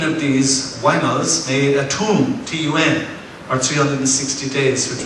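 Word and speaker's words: tun: And 18 of these Wainals made a Tum, T-U-N, or 360 days, which was the Mayan year.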